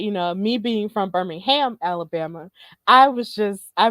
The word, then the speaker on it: Birmingham: birminghammer because of course in England they do have a Birmingham but of course they pronounce it Birmingham um but you know me being from Birmingham Alabama I was just